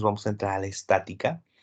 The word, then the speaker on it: estática: Estática, estática. Mi acento en la A, estática.